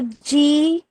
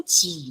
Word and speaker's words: 几: 你有几个孩子？Now 几 is the third tone 哈，你有几个孩子？And 几个 is how many, but for less than 10 children.